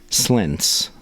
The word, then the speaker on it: Slentz: Slentz. Am I pronouncing your last name correctly?